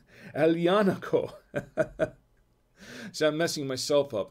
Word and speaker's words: Aglianico: now it says it looks like it says aglianico uh that's not how it's pronounced actually it's alianaco so i'm messing myself up and i haven't had any wine yet it's alianaco del voltor it's uh and i'm not going